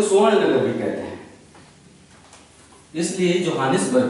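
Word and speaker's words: Tshwane: है नाम है स्वाने इंग्लिश में टी लगा देते हैं स्वाने एसस के पहले टी साइलेंट हो जाता है स् दक्षिण अफ्रीका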